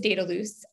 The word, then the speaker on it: Dedalus: all off who is dataloose and what makes you different yeah thanks jody so um daedalus data loose if you say it correctly um as i've been instructed by my european colleagues is one of the